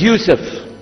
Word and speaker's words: Yusuf: back so I'm gonna go my name is Yousef he say Yousef Misha Houston very good I